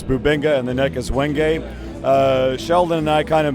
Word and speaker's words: wenge: know how to pronounce Wenge. It depends on where you are. Some people do say wenge, and if you're in certain places, that's actually correct. But most places I go, people say wenge.